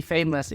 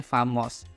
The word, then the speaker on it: famous: itu terkenal gitu jadi famous ini artinya terkenal untuk pengucapannya masih banyaknya aku dengar Orang bacanya famous tapi sebenarnya dia ini bacannya bukan fam tapi famous gitu He was strong and